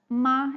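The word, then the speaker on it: 麻: Like the first tone, it means ma, it means mom. The second tone, ma, means hemp.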